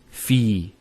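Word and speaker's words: في: So the first word is fi. So you notice there's the elongation, the long vowel.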